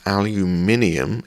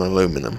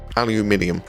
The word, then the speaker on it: aluminium: aluminium that's right americans aluminium is how we pronounce it over here and i know we say it weird because it's a hell of a lot harder than say than aluminum i wish we said